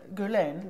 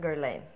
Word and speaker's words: Guerlain: Guerlain. Guerlain.